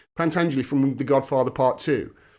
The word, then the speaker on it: Pentangeli: Pentangeli punt Anjali Pentangeli I think it's pronounced pant Anjali from The Godfather Part